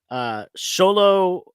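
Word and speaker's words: Xolo: I think it's Sholo Maradueva. I hope I'm pronouncing that right.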